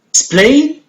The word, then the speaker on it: explain: Explain, on the second syllable.